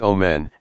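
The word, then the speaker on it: אֹמֶן: truth is on at pronounced o men and means faithfulness from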